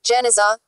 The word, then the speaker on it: Genizah: In 1896, a huge collection of medieval Jewish documents was discovered in a sealed room, Genizah, pronounced Geniza, of the Ben Ezra Synagogue in Fustat.